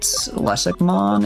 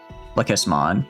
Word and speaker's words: Lekismon: I guess we could also, could we fit Lesikmon? Is that how you say it? Lekismon.